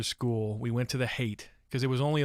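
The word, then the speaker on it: Haight: we would go to this area called um hate street it's spelled h-a-i-g-h-t it's pretty famous san francisco neighborhood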